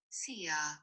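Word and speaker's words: szia: i don't know this it's spelled s-z-i-a you ready see ya oh see ya yeah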